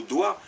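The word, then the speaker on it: doigt: lequel comme le mot Doig d o i GT vous n'en prononcez que trois lettres D o i le G t vous les prononcez pas donc du coup vous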